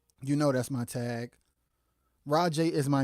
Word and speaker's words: ROJAY: it's because people kept people always call me Ro Jay because they say that's how it looks so it's capital r o capital j a y which is pronounced rajay because of the capital J but I don't want